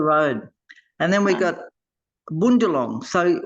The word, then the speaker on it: Bundjalung: So even though you got Bundjalung, we say Bundjalung there, Shamila, it's Bundjalung. Bundjalung. So it's a O. The U is an O, Bundjalung.